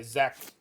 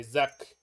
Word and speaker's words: Zak: uh you you say you say zack we say zuck i'm like that that's that's fine good enough in russian it's uh